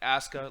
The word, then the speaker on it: Asuka: I was literally fanboyed about Asuka for 30 minutes with me on a Google Hangout.